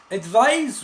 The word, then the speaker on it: advise: best all the time advise with the sound of Z is a verb you can advise your